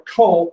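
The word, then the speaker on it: Köln: it's just about that then here's cologne or cole k-o-l-n in germany that's how they say it's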